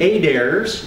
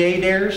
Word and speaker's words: Adair: A documented family story of the Adairs in southern Utah. Anybody know any Adairs from southern Utah? That's how you pronounce them down there. It's not Adair, it's Adair.